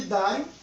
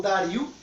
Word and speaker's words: Dario: Então, no segundo ano de Dário, ou Dario, dependendo da pronúncia, o novo governante da